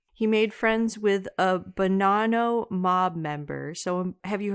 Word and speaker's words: Bonanno: It sounds like Bonanno. I'm saying banana really poshly.